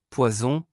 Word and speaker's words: poison: Une S simple entre deux voyelles se prononce comme Z en anglais, une SS double se prononce comme S en anglais, comme dans Sam.